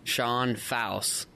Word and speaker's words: Fausz: announcers that constantly ask me exactly how to pronounce your last names. State's 25-pounder, Sean Fausz.